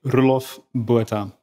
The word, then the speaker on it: Roelof Botha: My parents would call me Roelof Botha. Roelof Botha.